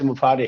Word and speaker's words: Mufareh: My name is एस मुफारे। हम लोग मुफरा बोलते हैं, तो मुफारा बोलते हैं, कुछ बोलते हैं, but actual name is एस मुफारे। हाँ, लास्ट में रे निकलना चाहिए हमारे।